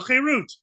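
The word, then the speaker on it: חרות: Chazal say al tikra charut ela cherut, a word play. Don't pronounce it as charut, engraved on the stone, but cherut, freedom, because the rules that are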